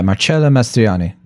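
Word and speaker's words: Marcello Mastroianni: result in Marcelo uh I want to say it right marello mastriani is that right yeah marchello mastriani mastriani's character who also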